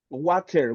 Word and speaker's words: water: in British English, they emphasize the letter T. In that case, for example, It, they say city, uh-huh. you're going to listen like this one, batteries, you're going to listen water, right? They make the letter T in that form. But in American English, it turns to letter R.